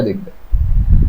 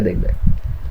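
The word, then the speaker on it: the: এটা দেখবে। আর দা বাদি এটা নির্দিষ্ট জিনিসের জন্য ব্যবহার হয়। যদি দা এর পরে কনসোনেন্ট সাউন্ড থাকে তাহলে এটার উচ্চারণ হয় দা আর যদি ভাওল সাউন্ড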